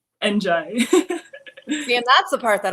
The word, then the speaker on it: Ndiaye: you say your name exactly last name andj and that's the part that always gets me